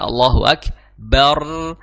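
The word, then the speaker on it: الله أكبر: bnya berharakat fathah kemudian rnya yang sukun itu dibaca tebal atau tipis maka sesuai kaidah yang tadi saya Sebutkan dibacanya adalah tebal Jadi bukan Allahu ak bar bar Allahu Akbar bukan tapi Allahu akbar seperti itu Nah di dalam surat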